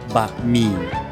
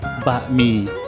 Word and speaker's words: บะหมี่: Today we're going to learn how to pronounce the name of the noodles. Firstly, egg noodle. In Thai, we call banh mi. Say it with me, banh mi.